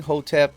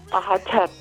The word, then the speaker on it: Hotep: In Medu Neter, the vowels were not written. So the vowels are not there. So you just have the consonant structure, which is HTP. So in all of the different dialects of Medu Neter that were spoken over 10,000 years, from one end of the river to the other end of the river, the pronunciation varied.